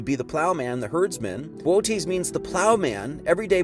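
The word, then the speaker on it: Boötes: That's real name is Bootes. I think is how you say that.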